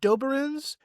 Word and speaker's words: Doberenz: My last name Doberins. That's a doozy. It's spelled D O B E R E N Z.